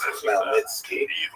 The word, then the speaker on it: Khmelnytsky: It's actually pronounced Khmelnytsky with a guttural Igor at the looks beginning.